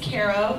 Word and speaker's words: Caro: My name is Caro, like the syrup.